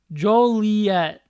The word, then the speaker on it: Joliet: Joliet is how you pronounce it.